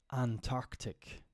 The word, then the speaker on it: Antarctic: it's Antarctic Antarctic this those double C's spell trouble just like the similarly named Arctic the South the southern pole often gets renamed Antarctic that's true so it's ant Arctic but often you'll hear people say Antarctic because Antarctic Antarctic is kind of difficult so we just say Antarctic kind of like gen